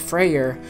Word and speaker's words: Freyr: which was phrase brother Freya's brother which is pronounced Freyr was ruler of the elves and Alfheim where